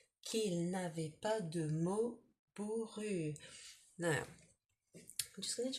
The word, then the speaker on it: bourru: Qu'il n'avait pas de mots bourru. Now, I'm just going to check that word bourru. Bourru. It's hard for me to pronounce it because it's got that ou.